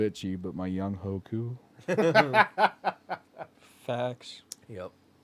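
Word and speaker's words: Younghoe Koo: young Hoku facts yup he told a reporter that's how you pronounce it I was like oh I'm gonna try to remember that but that's oh I know it's young way bud oh goes way better but the the coup being pronounced who was weird I don't know K's are pronounced with an H I guess I don't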